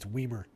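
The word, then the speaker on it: Wiemer: 12 home runs, 11 steals for, it's Weimer, actually. Joey Weimer at the bottom of the lineup. I got to get used to saying it that way. I think that's how it's said.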